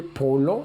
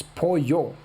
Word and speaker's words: pollo: a double ouch V double L it's not pronounced it's like my opponent here Polo it's Poyo Poyo and maybe it's a polio x i so 11.